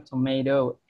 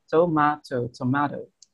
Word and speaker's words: tomato: Kalau di American English kan tomato, do gitu. Sementara kalau di British tomato.